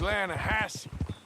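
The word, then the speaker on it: Lannahechee: some beautiful steelhead trout you mean the lanahashi river no no no no the the lana hatchy it runs right near here yeah but it's pronounced land hassey why is everything in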